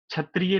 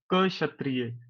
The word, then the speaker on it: क्षत्रिय: कर सकते हो तो आज के बाद क्षत्रिय नहीं क क्षत्रिय तो हम क्षत्रिय हैं ठीक है तो ऐसे आप उच्चारण करोगे तो आपको पता होगा क्षत्रिय कैसे हैं ऐसे इस